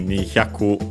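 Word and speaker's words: 二百: 200 on its own would be Nihyaku, luckily accented also on the ku at the end, on the final syllable, just like Hyaku on its own.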